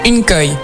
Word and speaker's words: Nkoy: mal prononcer le pseudo, Nkoi, c'est ça? Presque une koi. Une koi. Ouais, c'est plus comme, pour un truc technique, c'est genre une, puis koi, comme le poisson koi.